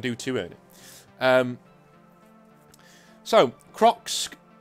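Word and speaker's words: Kroxxc: So, Crocs says, and the name is spelled K-R-O-X-X-C. So, you know, Crocs, I guess.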